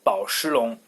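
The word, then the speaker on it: 宝诗龙: Well, in Chinese it's 宝诗龙.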